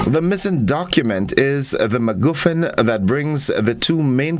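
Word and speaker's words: MacGuffin: is a noun and it is the word maguin maguen all right and it's spelled m a c g u f f i n M goofin and it is an object event or character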